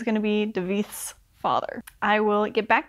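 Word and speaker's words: Davíð: So I think, because we've just been introduced to this character, David? Is that how you say it? Should be how you say it. Oh no, I'm sorry, it's Davith. Spelled like David.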